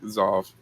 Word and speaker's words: Xauve: At Zov. Xauve. Zov. Which pronounce the X like a Z.